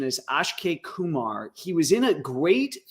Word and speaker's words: Akshay Kumar: So I believe the correct pronunciation is Akshay Kumar.